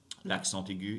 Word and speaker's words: l'accent aigu: Now, you may have noticed that I pronounced the T sound in when I said l'accent aigu. Why did I do that? Liaison. I did the linking thing, right?